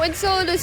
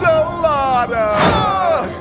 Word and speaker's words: Enceladus: Now, Enceladus is a pretty okay character, and when he was first introduced, Saturn kept mispronouncing his name. I'm not even gonna ask. Enchilada!